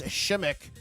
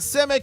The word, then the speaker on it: Shimik: Early rear koi says, "Did you learn to pronounce Chris Shimik last name properly at the Yeah, he said to me, by the way, IT'S NOT SIMICK, IT'S SHIMIK."